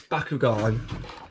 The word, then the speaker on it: Bakugan: My family pronounces Bakugan as Bakugan, and they've done that since forever, and it kind of winds me up a bit, because it's not Bakugan, it's Bakugan.